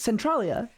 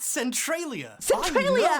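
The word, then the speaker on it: Centralia: Centrolia. It's actually pronounced Centriia.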